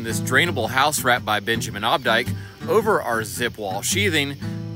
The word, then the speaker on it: Benjamin Obdyke: Yeah, so hey, this is Will from Benjamin Obdyke.